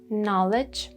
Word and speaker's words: knowledge: Then we have foreign and foreigner, knowledge, knock, psychiatry, psychology, we talked about them before, yeah?